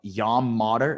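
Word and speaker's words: Yam Madar: tell me his name yum mater all right yam modder is how you pronounce it no modder so i'm calling him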